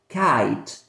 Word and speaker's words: kite: But when we add the letter E here at the end, this one becomes silent and the strength goes to I. And we say kite.